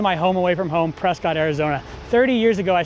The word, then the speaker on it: Prescott: So stay tuned as we explore Prescott, or as the locals say, Prescott, Arizona.